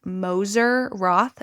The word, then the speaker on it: Moser Roth: This is specifically their dark chocolate sea salt of the um I I I think it's pronounced Moser Roth, m o s e r Roth, like Roth IRA.